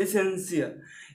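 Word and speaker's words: essential: ओ इत्यादि कोई भी टी का उच्चारण तो उसे स बोलते हैं, क्या बोलते हैं स। जैसे एसेंशियल, एसेंशियल है, एसेंशियल मतलब अनिवार्य होता है।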